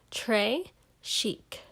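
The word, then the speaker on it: très chic: a bracelet tray chic you say it like this trey chic it means very fancy and the gravy is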